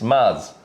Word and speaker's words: Mads: So, and um Mads is not Mads, it's Marz. Mars Mickelson. So, it doesn't The D isn't actually Yeah. So, we've been pronouncing it wrong the whole time.